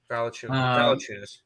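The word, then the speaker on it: Valančiūnas: It sounds like Bye-bye figures. Valanciunas.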